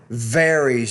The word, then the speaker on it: varies: And then that word varies. You need to pronounce that V with more vibration.